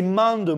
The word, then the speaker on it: Mende: Mais gros, mais comment tu le prononces? C'est Mende, mon Dieu, qu'est-ce que tu racontes, Mende?